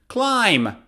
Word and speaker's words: climb: lamb not lamb or climb climb right so climbing a tree is dangerous or some people love rock climbing climb or another word is